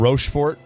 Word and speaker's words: Rochefort: People are saying it's pronounced Rochefort. Rochefort. There you go. Yeah, that's the guy corrected me.